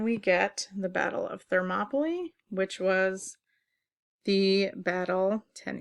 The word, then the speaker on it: Thermopylae: at the Battle of Thermopylae that's how this complicated word is pronounced there mably this gave Athens valuable